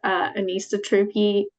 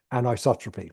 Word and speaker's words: anisotropy: natural soils you know there's about a 10% anisotropy that's how you say it oh yeah there's about